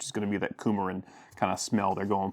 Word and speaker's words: coumarin: What it says is the notes are lemon, clary, sage, and coumarin, or coumarin probably is the better pronunciation.